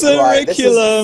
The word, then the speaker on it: curriculum: Right, it's pronounced curriculum. It's not curriculum, but like circumference, circumvent, circum-frickin' size.